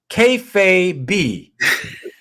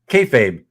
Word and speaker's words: kayfabe: KAYFABE. Okay, and Chuck. Hey, Chuck, what's up, Chuck? KAYFABE, you mean? KAYFABE? KAYFABE. Okay, if it's KAYFABE, like Kazra says, tell me if it rhymes with maybe, right?